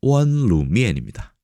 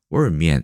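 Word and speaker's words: 溫滷麵: 원루미엔을 어떻게 하냐면 월미엔 이렇게 얘기합니다. 월미엔. L 발음을 막 중간에 막 뭉갭니다.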